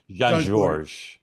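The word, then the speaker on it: Jean-Georges: blocks from my house, and the S is silent. Okay, sorry. Jean Georges.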